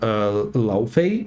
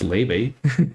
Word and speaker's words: Laufey: Cannot wait for Laufey, I guess they're calling it, even though apparently it's pronounced Leve, like the singer.